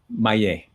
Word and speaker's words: Maillet: Maillet. The Maillet. Oh my God. Yeah, the double L, like like July. You pronounce it juillet, but it's spelled J-U-I-L-L-E-T. So the double L makes a Y sound.